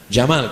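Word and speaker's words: جمال: Wajamal, cantik, tapi bacanya pakai alif. Wajamal, jamal, cantik. Tapi kalau tak pakai alif, jamal, onta.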